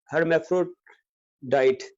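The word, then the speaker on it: hermaphrodite: चीज है उसका जो कंसेप्ट है, सूडो हर्मेफ्रोडाइट, हर्मेफ्रोडाइट प्रोनाउंसिएशन जो इसकी है।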